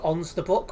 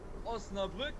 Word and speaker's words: Osnabrück: I think it's pronounced Ons the Book, which is in Germany, near Duisburg. Ah, Osnabrück?